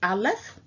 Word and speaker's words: aleph: the letter A which the pictographic character is pronounced aleph in the Hebrew this is ancient Hebrew uh